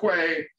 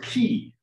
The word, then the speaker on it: quay: Okay, like, you know, like a boat dock, except that it's actually pronounced key.